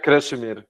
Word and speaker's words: Krešimir: Thank you very much, Kashmir. Am I pronouncing it correctly, by the way? Yeah, Krashimir, it's fine. Wonderful. Yeah, can you see the screen? Yes. Yeah, okay, so hello everyone, I'm Krešimir from Croatia.